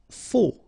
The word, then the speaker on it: faux: Faux. Okay, final X not pronounced, then you get this AU together, O, faux.